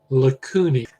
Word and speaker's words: lacunae: Paragraph, after you see chondroblasts and chondrocytes, and you see the bold print term lacunae. AE in Latin is pronounced as just an E, but it's a little cavity.